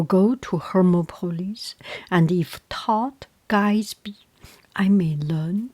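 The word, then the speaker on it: Thoth: Some pronounce it thor and I think in English translation or or in English way um it is thor but uh I doubt if there is a th sound in Egypt.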